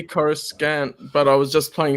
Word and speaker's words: Coruscant: version mine is, but he says Palpatine and Coruscant. Yes, Coruscant. They will always say Coruscant, but it's really annoying. I read the unabridged version. Well, they will always say Coruscant, but I was just playing SWTOR where they pronounce it Coruscant.